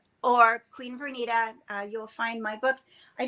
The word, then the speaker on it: Vernita: Well, okay, again, Queen Vernita, Queen, just the way it's spelled, Vernita, VERNITA.